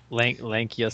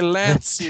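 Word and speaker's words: Lancea: Lankia Sanctum is correct. Henry, you're wrong. Venture. I say Lancia Venture.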